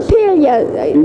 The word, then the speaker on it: Impiglia: at Arthamptons, and I am here with Giancarlo Impiglia. Yes, that's the correct pronunciation. Impiglia.